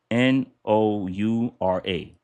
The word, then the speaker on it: Noura: So, it's spelled n o u r a, Noura.